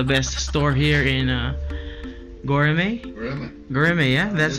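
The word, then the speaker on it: Göreme: Goremay. Yeah, that's how you pronounce it.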